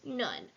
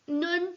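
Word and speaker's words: נון: And that helps you remember that the name is Nun. But you can also remember that it just has Nun, kind of sounds like the word none, which is what it means in the game Dreidel.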